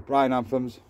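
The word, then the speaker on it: Mesembryanthemum: The bryananthums, that's how you pronounce them, little daisies.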